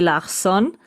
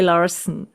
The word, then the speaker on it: Larsen: we pronounce it Christine K. Larsson. That's the original Larson. pronunciation, and the English-speaking people are saying Christine K. Larsen.